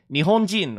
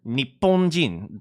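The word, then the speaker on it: 日本人: In Japanese, they would say Nihonjin or Nipponjin, depending on your pronunciation.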